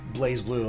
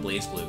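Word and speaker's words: BlazBlue: the correct pronunciation of blaze blue is actually BL blue BL the Z is apparently silent I've never known that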